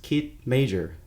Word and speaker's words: Kit Major: Hi everybody, this is Vincent and you're on my podcast Hanging Out Sunset, and today I'm with the artist Kit Major. Did I pronounce that correctly?